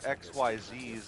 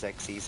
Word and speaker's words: Xyz: team Synchro let's go I'm not calling it xyz's that sounds really dumb the actual pronunciation is xes anyway I mean it's